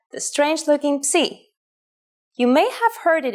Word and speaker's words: Psi: If you ever forget how to pronounce this letter, just remember, Psi is for Poseidon and his trident. It is handwritten like this. Psi.